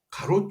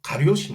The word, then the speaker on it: 가리옷: 가리옷이 아니라 가롯 유다라고도 부르는데요. 가롯은 가리옷이 순화된 발음입니다. 그러니 가리옷이 맞습니다.